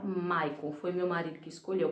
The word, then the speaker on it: Michael: Se escreve Michael, mas é se fala Maichael.